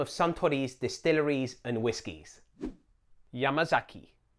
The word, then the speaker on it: Yamazaki: Each syllable is the same length. If you find that difficult, try to put the stress on the first syllable, Yamazaki. This will help combat the Anglophone tendency to say Yamazaki.